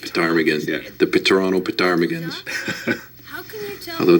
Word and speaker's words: ptarmigan: And that, by the way, is the proper way to say it. It's ptarmigan.